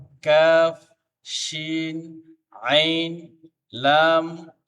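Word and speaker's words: ك: আবারও পড়ি আমরা: বা, জিম, খ, সদ, মিম, হা, কাফ, শিন, আইন, লাম, বা, গাইন, কাফ, কফ, সিন, হা, তা, মিম। আবার কাফ, কফ, সিন, হা, তা, মিম। প্রত্যেকটা হরফ সঠিকভাবে সুন্দরভাবে তার মাখরাজ থেকে উচ্চারণ করতে হবে, তাহলে পড়াটা সহি হবে।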